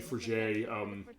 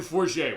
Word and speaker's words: Forget: And the Forget, that is actually spelled out Forget, but they have the T is silent, which is pretty funny, actually, as far as that.